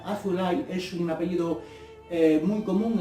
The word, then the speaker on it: Azoulay: Quiero decir que el apellido Azoulay, que se pronuncia Azulay, es un apellido muy